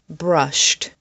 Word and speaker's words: brushed: Brushed, pushed, punished, rushed. The sound at the end of these words is sht, sht, sht, sht.